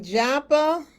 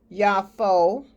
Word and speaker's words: Joppa: And he went down to, it looks like Joppa, but it's correctly pronounced Yafo, and that means beautiful.